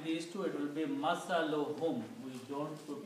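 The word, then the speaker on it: مثلهم: When we combine these two, it will be masaluhum. We don't pronounce to the mas, one only.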